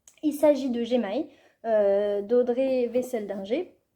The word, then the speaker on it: Wesseldinger: Il s'agit de Gemaï, d'Audrey Wesseldinger, que moi j'ai tendance à vouloir prononcer autrement à l'allemande, mais non, ça se prononce bien comme ça, me l'a-t-elle dit, il y a de cela pas plus d'une semaine.